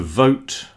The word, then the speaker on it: vote: Very problematic letter for a lot of people who speak Spanish because you don't pronounce the V.